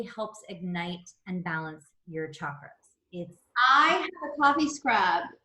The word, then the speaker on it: chakra: It is pronounced chakra, not chakra. That is how white people in this country pronounce it. It is chakra.